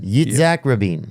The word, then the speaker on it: Yitzhak Rabin: Isaac Rabin. I'll spell it for you, okay? Isaac Rabin. Isaac Rabin. Yitzhak Rabin.